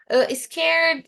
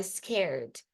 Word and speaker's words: scared: Então, scared. Não fica com som de E aqui, né?